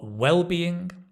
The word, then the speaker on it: well-being: synonyms for health are well-being wellness fitness notice the stress is on the first syllable wellbeing okay not wellbeing wellbeing Wellness Fitness yeah exactly